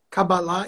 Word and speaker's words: Cabalá: Me permita perguntar se a pronúncia correta é Cabalá ou Cabala? Cabalá em hebraico. O termo em hebraico é Cabalá.